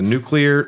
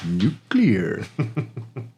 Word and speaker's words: nuclear: Pino's Pizzeria with a nuclear laser a top a nearby Tower nuclear laser a nuclear laser it's nucle that was actually a good Homer Simpson it's pronounced nuclear uh papino can walk